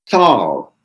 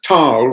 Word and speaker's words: Thal: name at first because of course that's an americanized version of tile which is the way german say it and that the way i pronounce it and he handed me